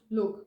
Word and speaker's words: Luke: So his name is Luke, from Lucas, and it's pronounced Luke, not Luck. And I'm saying this because a lot of people are having this misconception, but his name is Luke.